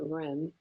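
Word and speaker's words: Reine: Ren now people some people pronounced her name rain some pronounce it Ren she pronounced it she herself pronounced it Ren it's re i n e it means queen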